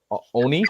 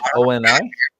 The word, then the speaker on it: Oni: I know in Japanese folklore, I believe that they call their demons Oni, O-N-I, Oni.